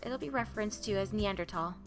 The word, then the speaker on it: Neanderthal: was new to me neanderthal or neanderthal i noticed in all your lectures you use neander neanderthal i've always heard it as neanderthal is it a preference a preference and there's no h sound when it's pronounced in french fair and